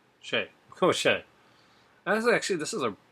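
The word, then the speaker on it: Schaech: s c h a e c h sh Shay sh actually this is a pretty good cast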